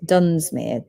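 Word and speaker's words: Dunsmuir: It is Dunmere.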